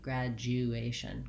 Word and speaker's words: graduation: get that gliding sound graduation graduation so this is where the error typically happens for most people that they may leave out this critical j and glide sound finally my shun ending